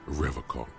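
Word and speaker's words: Revachol: for rev a call he pronounces rivercon with a hard k unlike other people i like to pronounce it the hard way the old way the vespertine way the stupid way it's a secret right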